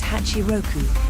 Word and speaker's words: Hachiroku: While 86 is common in English, the original pronunciation of its name is Hachiroku. So, it would be lovely if you could also remember the name Hatchioku as well as 86.